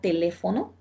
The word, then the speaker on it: teléfono: aquí tenemos la palabra cámara tenemos la palabra teléfono mire hará primera sílaba ma segunda sílaba y cada tercera sílaba